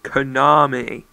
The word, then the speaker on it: Konami: on this game oh by the way it's pronounced Konami just thing you know the challenge level is